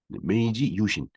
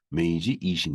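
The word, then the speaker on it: 明治維新: 말로는 그렇게 읽고 있습니다 메이지 유신 유신은음 일본 발음으로 이신이 되겠어요 그래서 여기서 메이지 이신 이렇게 써 있죠 우리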